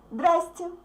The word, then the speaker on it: здрасте: So we don't pronounce z. We don't pronounce all these consonants in the middle of the word. We say just здрасте.